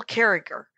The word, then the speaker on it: Carriger: her name is gail carriger and uh and it's it's uh gilcare and it's it's spelled gil carriger but she goes with a hard g on the second uh g okay so uh so